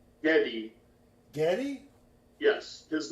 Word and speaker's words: Geddy: No, Brett Geddy Lee is not a woman. No. Who's not a In woman? fact, he just Geddy Lee, Giddy? the bassist, keyboardist, lead singer of Rush. What's the name? Giddy? Geddy.